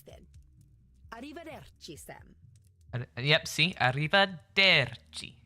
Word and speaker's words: Arrivederci: Arrivederci. She pronounced the der, because that's the second to last syllable. Oh yeah, see you soon, senora. Arrivederci.